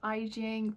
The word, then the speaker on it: Iing: And by the way, if you've reached this point of the video, my name is Iing, pronounced like Beijing with an I.